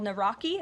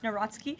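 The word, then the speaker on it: Nawrocki: He met with Carol Naraki, if I'm pronouncing that correctly. Yes, Natsky. Uh, okay.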